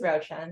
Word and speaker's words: Ruochen: me my name is roen it's pronounced like a roach and a hen but one word and I'm right now